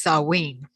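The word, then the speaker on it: Samhain: Festival of saween but it's spelled s-a-m-h-a-i-n and I learned that it's pronounced sawing yeah because it looks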